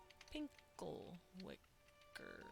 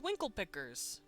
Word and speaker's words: winkle pickers: know what they're called pinkle wicker hmm i googled winkle picker i've been saying it wrong they're called winkle pickers they're these these shoes